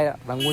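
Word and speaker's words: Yangon: इसका pronunciation रंगून है लेकिन यहाँ पर लिखा हुआ है यांगून। इसको यांगून पढ़ा जाता है लेकिन बोला रंगून ही जाता है।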